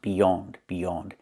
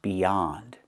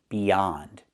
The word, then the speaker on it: beyond: The word is not pronounced beyond. It's pronounced beyond. Use the open ah sound like hot and stop. Not the o sound, but the ah sound. Beyond.